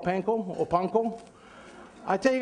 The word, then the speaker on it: panko: guys this right now when you guys say it say panko but i get scolding all the time because all my friends on food network they don't know how to say they got painful panko and everybody in hawaii goes hey sam tell your friends it's called panko so panko inside a